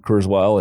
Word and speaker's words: Kurzweil: Am I pronouncing it? Is it Kurzweil? Kurzweil, yeah.